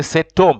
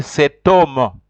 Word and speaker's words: cet homme: You have to say cet homme.